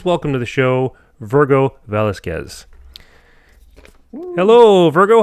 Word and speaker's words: Velasquez: So did I pronounce your name right? Your last name right? Velasquez, yeah. Velasquez.